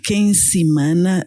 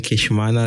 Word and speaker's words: Nkeshimana: aqui com o jovem Quem seana? Cedric. Espero ter pronunciado corretamente o seu nome, senão corrija. E chamo Queixmana Cedric. Então estava mesmo errado.